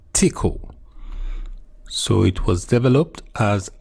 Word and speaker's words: Tcl: abbreviated to TCL and commonly pronounced as tickle. So it was developed as an extension to tickle or tool command language.